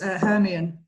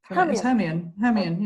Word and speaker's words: Hermione: The first 3 Harry Potters, Hermione. Hermione.